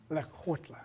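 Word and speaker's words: Lekgotla: Okay, that's the essence of Lakota. Excellent. Here we go. One more time, so I've got the pronunciation. Lekotla.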